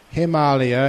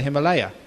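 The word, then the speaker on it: हिमालय: Himalaya is the proper pronunciation of what we call the Himalaya.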